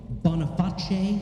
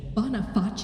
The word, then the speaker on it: Boniface: Anyway, Pope Boniface VIII. Boniface? Boniface. Wow. Now it looks like Boniface, but it's Italian, and I know that when it's a C alone, it's pronounced ch. Right. So Boniface. Yeah.